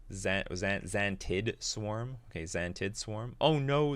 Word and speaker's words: Xantid Swarm: Am I pronouncing this right? Xantid Swarm.